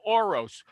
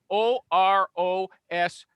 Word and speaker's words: Orosz: And then Orose, Orosz.